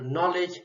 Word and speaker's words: knowledge: pronounced the vedience bill for example knowledge K is silent so know how a